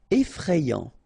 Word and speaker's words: effrayant: Effrayant. Okay, so final T not pronounced, and then you get effrayant.